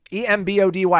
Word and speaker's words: Embody: But we'll have a SMU insider, Bill Embody, E-M-B-O-D-Y. How would you pronounce E-M-Body? I think you got it right. Embody? Yeah, Embody.